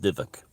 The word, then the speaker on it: dybbuk: the div the dybbuk thing is it's about dybbuk but it's pronounced divak in a in yiddish and uh that's why